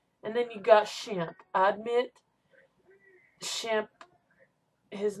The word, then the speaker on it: Shemp: they called him shim because his mother you know pronounced his name and it would sound like champ somehow so and then you